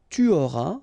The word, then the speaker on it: tu auras: J'aurai, tu auras, final S not pronounced, il aura, elle aura,